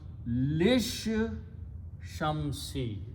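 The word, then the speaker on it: لِلشَّمْسِ: So it becomes lish shamsi. This lam is not pronounced to begin with. So lam, this particular lam of goes with the sheen.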